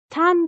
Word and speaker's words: tan: of nevada reno sweatshirt tan being a childlike pronunciation of the japanese honorific sufix chan gemma used to refer to young girls so that's where the